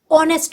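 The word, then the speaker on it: honest: umbrella ऑनेस्ट person यहां H silent है ऑनेस्ट हो रहा है ओ का उच्चारण हो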